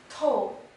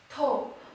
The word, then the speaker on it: 透: this character is pronounced as toe toe and this verb it means to penetrate for